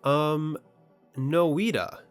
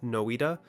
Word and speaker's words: Noita: Noita, I think that's how you pronounce it, Noita. I think it's pronounced Noita.